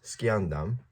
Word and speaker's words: sciendam: But ad sciendam, so sciendam, we say C, we use a K sound for C in Latin, so that just means